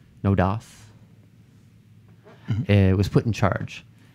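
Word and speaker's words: NODOS: and an AI named I'm gonna pronounce it no dose n OD OS no dose it was put in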